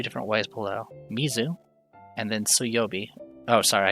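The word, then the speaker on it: 水: The reading changes and the water is pronounced sui.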